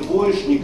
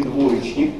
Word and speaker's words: двоечник: и так и так например Можно говорить двоешник и двоечник но я абсолютно уверен что вам привычнее произношение двоечник именно Оно Нет двоечник привычне всего отличник и